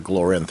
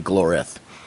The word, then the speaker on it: Glorith: is a character who glorif isn't glorif i think is how it's pronounced i keep i keep throwing an n in there i keep calling her glorynth but it's really glorif yeah she was connected